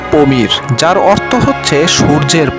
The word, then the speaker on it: Pamir: সবচেয়ে উঁচু মালভূমির নাম পামির মালভূমি স্থানীয় ভাষায় এর উচ্চারণ হচ্ছে পমির যার অর্থ হচ্ছে সূর্যের